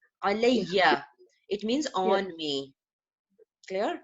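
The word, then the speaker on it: عَلَيَّ: So when two ya becomes together, we pronounce with shadda. Alayya, it means on me.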